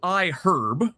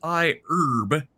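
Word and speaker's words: iHerb: Oz um is an investor in I I would pronounce it I Herb, but it's I Herb with an H.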